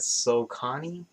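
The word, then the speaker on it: Saucony: the uh what is how do you pronounce that so connie s-a-u-c-o-n-y yes oh yeah so connie so connie yeah like the the whole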